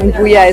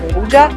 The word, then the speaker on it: Nduja: As we found out, it's not pronounced Nduja as we believed, but it's actually pronounced Nduja.